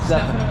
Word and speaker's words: Stefano: You can say Stefano or Stefano. Stefano is the correct way.